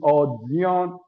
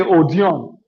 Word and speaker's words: Odion: It is Odion, but they say Odion. Odion, Odion, different pronunciation.